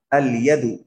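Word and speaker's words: اليد: ইয়া দিয়ে যদি কোনো শব্দ শুরু হয় সেখানেও আল উচ্চারণ হবে। আল ইয়াদু, আল ইয়াদু মানে কি?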